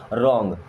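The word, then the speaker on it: wrong: Means पूरी तरह से, रॉन्ग डब्ल्यू साइलेंट है यहाँ पे, रॉन्ग मीन्स हो जाएगा गलत।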